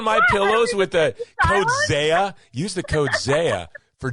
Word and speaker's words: Xeah: My artist name is Xeah, but it's spelled with an X. So it's Xeah.